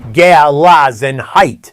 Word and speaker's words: Gelassenheit: The Amish treat it as there's a guiding principle called Gelassenheit, pronounced roughly Gelassenheit. It's a German word, and the closest English